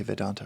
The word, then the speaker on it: Vedanta: Uh Vedanta, am I pronouncing it correctly? Vedantic is the podcast on the the ancient philosophy of uh Advaita Vedanta, that's right.